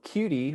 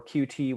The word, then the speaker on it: Qt: ui frameworks using webassembly uh there is so cutie or qt whichever way you want to pronounce it qt does support webassembly it's a